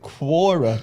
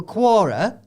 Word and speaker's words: Quora: oh yeah so i i've always been pronounced it quora like corn the quorn yeah well quora yeah i got asked